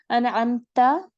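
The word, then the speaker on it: أنعمت: अनअमता इनाम किया तूने, ता ज़बर ता को आपने याद रखना है।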